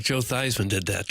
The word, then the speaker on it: Theismann: Joe Theismann did that to rhyme his name with Heisman. My understanding is that was more the Notre Dame officials. I don't think that was my biological father, Joe Theismann. Yeah. Theismann. Yeah, I pronounce it Theismann, too.